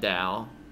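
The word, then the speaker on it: Tao: I think you're supposed to pronounce that Dao. Despite it beginning with a T, and it's...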